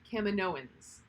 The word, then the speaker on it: Kaminoans: filoni she said according to dave filoni he pronounces it kaminoans that's the that's the correct way cameron owens